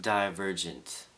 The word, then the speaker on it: Divergent: Just to clear this up, it's pronounced divergent, but it sounds cooler to say divergent, so sometimes I say divergent, sometimes I say divergent.